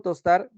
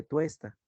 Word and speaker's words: tuesta: sí solo en presente no se dice tosta se dice tuesta o tuesto por ejemplo yo tú